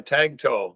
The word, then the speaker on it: Tagtow: Uh Tagtow, like my wife tells me tagging a tow truck. I guess. All right, Tagtow.